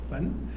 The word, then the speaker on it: 鼖: 那是所以呢所以大鼓为焚读作焚。